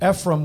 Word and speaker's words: Ephraim: and Ephraim were left out so am I pronouncing that right Ephraim Ephraim yeah Ephraim were left out most prostate experts believe Dan